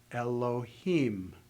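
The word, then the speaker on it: אֱלֹהִים: I read it slowly, you would pronounce the inflection at the end of the first word, bereshit. The end of the second word, bara. at the end of the third word. Elohim.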